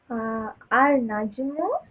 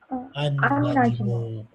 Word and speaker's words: النجم: Al-Najmu becomes An-Najmu, okay. An-Najmu.